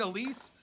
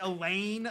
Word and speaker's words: Elise: Or like Elise, like they'll get Elise, but then they'll say like, what is like Elaine? Like they'll throw an N in there.